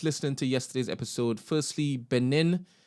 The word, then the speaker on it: Benin: Firstly, Benin in Nigeria is actually pronounced Bini. All right, so it's Bini.